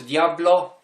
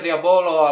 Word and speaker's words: Diabolo: mówię w gwarze bazarowej wśród Diablo pisze się Diabolo ale na bazarze zawsze się gada Poproszę wśród Diablo już wiadomo o co